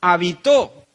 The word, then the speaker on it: habitó: hace al monje pero si le cambio la tilde o el acento sí en este caso la tilde y se la pongo la última sílaba habitó Qué significa es es otra